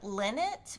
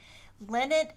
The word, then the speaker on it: Linit: We did get Yeah, a comment from Michelle B that says that she gets the brand Linnet, which is spelled Linit, Linnet starch concentrate from Walmart, but she thinks Amazon has it now too, and it's just like Stay oh, Flow.